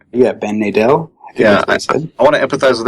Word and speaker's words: Nadel: yeah all these years in my head I was pronouncing it wrong and I feel bad